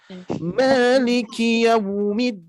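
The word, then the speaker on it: مَالِكِ يَوْمِ الدِّينِ: Maliki yaumiddin. Hati-hati yau huruf lin atau harfulin di sini dia pengucapannya tidak ke o ya, bukan yaumi tapi yaumi.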